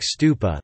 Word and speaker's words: stupa: thought to derive from the Pali word for stupa, thupa, the Sanskrit pronunciation being stupa. In particular, the type of the tower-like stupa, the last stage of